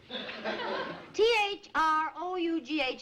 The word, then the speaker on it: through: T-H-R-O-U-G-H is pronounced through.